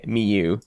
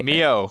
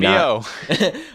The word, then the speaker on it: Mio: All right, so our next piece is called Vinyl Scratching Pony by Miyu. See, I said Pony. Mio. And Mio. I mispronounced the artist name, but I said Pony and not Pon 3.